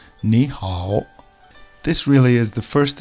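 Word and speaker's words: 你好: Notice above the I and above the A are circumflex shapes. These denote the tone you must say when you're speaking. It goes down and then up. Ni and hao. Although actually when two of these tones are together, the first one becomes more of just an upwards tone. Ni hao.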